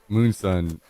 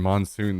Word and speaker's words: Moonsun: It's very clearly 2 O's and one, Moon Sun and not Monsoon.